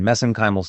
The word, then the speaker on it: mesenchymal: We pronounce it differently here in the US, but I use the Irish pronunciation, mesenchymal stem cells.